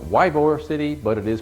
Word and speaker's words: Ybor City: One other thing, it might be spelled Ybor City, but it is pronounced Ybor City.